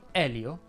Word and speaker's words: Elio: sia adele che agnese in elio la e è aperta elio e le storie tese